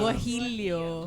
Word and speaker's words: guajillo: Guajillo. Guajillo. Guajillo. Walang L.